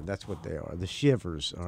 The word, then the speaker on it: Shivvers: So anyway, all right, and it's pronounced, it's spelled with two V's, like, instead, you know, not like you're shivering, right. You know what a shiv is, right? Yeah, exactly. Yeah, that's what they are, the Shivers.